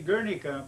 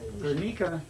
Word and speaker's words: Gernika: this is the the Gernika generation some say Guernica but that's not the correct way to pronounce it jenika generation Mika yeah and this is the story